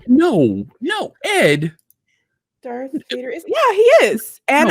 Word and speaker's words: Darth: not no no ed darth vader yeah he is and i also in case you were wondering am a slytherin so there you go i mean it's just darth not dark darth oh i didn't even